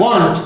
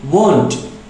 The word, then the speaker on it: won't: Bukan want tapi won't.